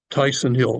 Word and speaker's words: Tychson Hill: it is an extraordinary wine 2006 kogan sellers Tyson Hill that's spelled t c HS o n CERN Sil